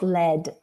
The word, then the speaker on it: lead: petrol which is without lead and it's it's green sign and we call it unleaded petrol but if you pronounce this word in different way like lead you will get a different meaning so the same graphic